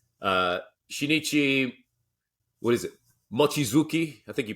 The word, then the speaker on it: Mochizuki: mathematician the Japanese uh shinichi what is it machizuki I think you pronounced Japanese better than I given your extensive Asian background uh how would you pronounce his last name well I'd say muchizuki mochizuki all right fair enough um and here he